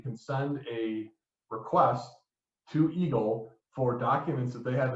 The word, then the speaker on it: EGLE: So the State of Michigan--the agency that does environmental permitting is called the EGLE .